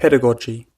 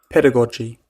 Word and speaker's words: pedagogy: How do you pronounce that? Pedagogy. Tamagotchi? Pedagogy.